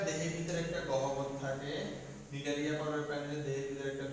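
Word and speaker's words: Cnidaria: ওকে, তাহলে আমরা এখন নিডারিয়া পর্বতে ঢুকি। আসি, নিডারিয়া নামটায় সি দিয়ে শুরু হয়, অনেকে প্রোনাউন্সিয়েশনে বা বানানে একটু ভুল করতে পারো, নিডারিয়া নামটা সি দিয়ে শুরু হয়।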